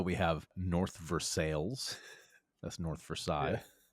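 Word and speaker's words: North Versailles: So we have a lot of French towns here, but nobody pronounces them in any kind of French way. So we have North Versales, that's North Versail.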